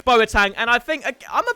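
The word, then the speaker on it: Boateng: terrible carding game moments boitang is next apparently i say it wrong so i've tried to say it very very well there we've got moments boa tang and i think i'm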